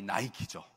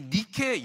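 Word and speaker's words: Nike: 근데 이 니골라 당이라는 그 단어를 보면 그 단어 안에는 그 그리스 신화에 나오는 승리의 여신 니케, 영어로는 발음이 나이키죠.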